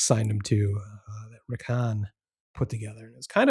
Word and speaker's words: Hahn: eventually coined the term wrath of Hahn that rhymes with Kahn.